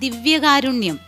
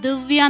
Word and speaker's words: ദിവ്യകാരുണ്യം: അത് ഉച്ചാരണത്തിൻ്റെ ഒരു മിക്കവാറും ഒത്തിരി പാട്ടുകാർ ഈവൻ നമുക്ക് പോലും പാടുമ്പോൾ പറ്റുന്നതാണ് ദിവ്യകാരുണ്യം. ദിവ്യ, എല്ലാവരും ദിവ്യ എന്ന് പറയും. അല്ല, അത് ദിയ അല്ലേ, ദിവ്യകാരുണ്യമാണ്.